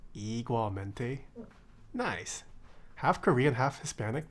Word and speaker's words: igualmente: But being half Korean Hispanic, I can confirm is pronounced igualmente.